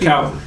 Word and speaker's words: Calvary: You say it, Calvary. Yes, how it's pronounced.